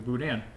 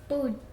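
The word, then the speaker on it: boudin: I've been told by people I work with who are local, you don't pronounce the N. Boudain?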